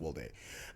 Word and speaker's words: Woldeh: So my name is Woldeh. It is pronounced Woldeh.